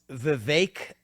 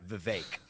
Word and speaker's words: Vivek: you say it though Vivek of Vivek oh thank you for asking I appreciate that so it's Vivek like cake okay everybody says it